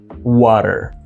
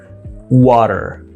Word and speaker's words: water: accent this is water water open wow sound flap T sound which is sounding like a d and r American R you pronounce that r are water not water can I